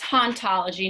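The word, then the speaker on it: hauntology: and operate okay and it's haunt ology not ontology but that's kind of the funny thing because in French it's basically the same so I think it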